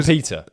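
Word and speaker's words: Peeta: Peter! And also, okay, let's... people stop giving a shit for saying it like that. They're in a different world. That's how the name's pronounced.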